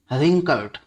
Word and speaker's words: wrinkled: But suddenly his face Guru रिंकल्ड, यहाँ W silent है, रिंकल में WRINKLED, रिंकल्ड।